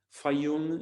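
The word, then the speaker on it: Fayum: i strongly advise you to fi yoon it's spelled f-a-y-u-n and the best collection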